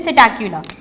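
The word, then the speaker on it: Psittacula: यहाँ पे जो सिटैक्युला की स्पेलिंग है स्टूडेंट्स, इसमें पी साइलेंट है, इसे हम प्रोनाउंस करते हैं सिटैक्युला।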